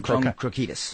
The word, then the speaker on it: Krokidas: Krokidas.